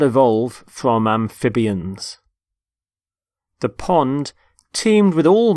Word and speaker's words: amphibian: first word is amphibian amphibian notice the stress on the middle syllable amphib amphibian there are animals such